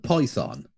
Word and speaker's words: Python: well, pronounce it correctly for a start. Monty Python. Monty Python. I said that. No, Python, please. Python. Like, how many syllables do you think it has? Python.